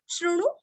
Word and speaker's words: शृणु: विष्णोर नाम सहस्त्रम में शृणु, श्रुति का श्रु, अणु का णु, रस्व, शृणु पाप भयामहम, लास्ट में आधा म।